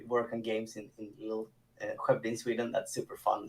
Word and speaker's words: Skövde: Skövde. Is that close? Skövde.